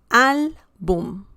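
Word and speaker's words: álbum: We have the stress on the second to last syllable, and the word ends in M. That's why we need the accent mark.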